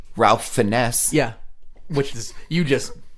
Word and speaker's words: Fiennes: you know I think I think it's supposed to be fines but it is spelled like